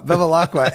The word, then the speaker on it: Bevilacqua: How do you pronounce that? Bevilacqua.